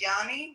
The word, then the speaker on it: Joni: Oh, you say your name is pronounced Yanni.